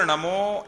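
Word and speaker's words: णमो: नमो नमो और नमो ना बोलना चाहिए, टठ ना, ना बनता है ना हिंदी का ना बोलना, ना नहीं बोलना चाहिए।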